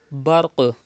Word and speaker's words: برق: Barq. Qaf is from qalqala letters. You have to do qalqala. Qalqala means to rebounce the sound.